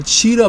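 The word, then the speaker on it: Ouachita: live this sand stone ridges of uh uh cheetah mountains it's spelled o-u-a-c-h-i-t-a mountains um the valley surrounding the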